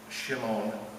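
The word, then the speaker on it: Shemin: William Shem pronounced Shimon was postumously awarded the Medal of Honor for his World War I heroism.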